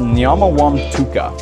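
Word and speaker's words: Mnyamawamtuka: the matuka river drainage it's pronounced Mama wam Tua so that one's a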